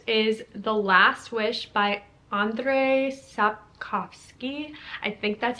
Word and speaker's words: Andrzej Sapkowski: Number 22 on this list is The Last Wish by Andrzej Sapkowski.